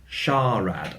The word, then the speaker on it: SHARAD: for Shallow Radar, and so it should be pronounced SHARAD.